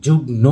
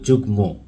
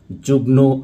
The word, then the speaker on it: যুগ্ম: যুক্ত রয়েছে, কিন্তু প্রকৃতপক্ষে এখানে যুক্ত রয়েছে ম ফলা। এই জন্য আমরা এখানে ম ফলার উচ্চারণটা করব, অর্থাৎ আমরা সম্মান না বলে বলবো সম্মান এবং যুগ্ন না বলে বলবো যুগ্ম।